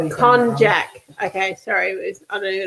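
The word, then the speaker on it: konjac: believe it's pronounced cognac with a hard j not like cognac of the brandy con jack okay sorry i don't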